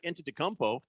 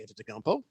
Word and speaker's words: Antetokounmpo: Because that's how I learned Antetokounmpo.